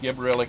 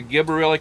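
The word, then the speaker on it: gibberellic: It's either gibberillic or gibberillic. It's g i b e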